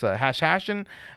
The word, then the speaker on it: Hashashin: Um, so this is uh Hashashin uh and yes I pronounced that uh the way it is. It's Hashen uh and Peasants Revolt is the name of the track.